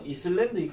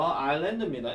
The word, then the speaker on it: island: 이거 발음하실 때 절대로 이슬랜드익 하지 마세요. 이슬랜드익 하시면 안 돼요. 아일랜드입니다. S 발음 무시됩니다.